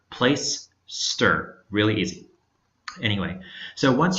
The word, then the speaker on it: Placester: Play Store comm and that is pronounced plaister it's not place setter it's not place tester it's not podcaster place ster really easy anyway so